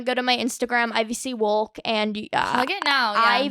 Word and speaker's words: Wolk: You're gonna want to go to my Instagram, IVC Wolk, and plug it now. Yeah. IVYC. I'm sorry, I think I said your last name wrong. Everybody does. It doesn't matter. Wolk.